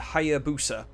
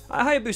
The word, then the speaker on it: Hayabusa: So Ryu and Hayabusa. Hayabusa, that's pretty close to Hayabusa. That's what I think I pronounced that right, but Ryu.